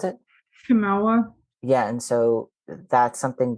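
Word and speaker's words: Chemawa: And so, how do you pronounce it? Chimawa.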